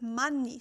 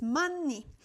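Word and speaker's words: 많이: So the word that is very similar in English is many. However in Korean you pronounce it money. So right the a is not like a in English. So it is money.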